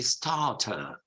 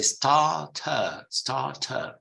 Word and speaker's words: starter: While in British English would be starter. You would not pronounce any of those R's. You say starter. They say starter. You see, starter, 2 R's. We make it a silent R, and they pronounce it.